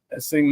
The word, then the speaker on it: Essengue: Essing Noah Essen. Apparently it's how it's pronounced.